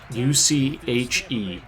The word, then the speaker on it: Uche: the on the patriots his name is josh uche u-c-h-e it's pronounced uche and i was talking